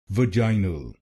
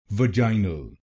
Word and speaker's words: vaginal: it will be called vaginal vaginal this word has three syllables say the first syllable va va second syllable jai jai and say the last